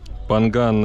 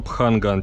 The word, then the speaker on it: Phangan: Панган — это, ну, если правильно говорить, то пханган через х. Но местные говорят панган.